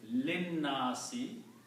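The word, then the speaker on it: لِلنَّاسِ: So when we read these together, you do not pronounce the alif. Linnasi, for the people.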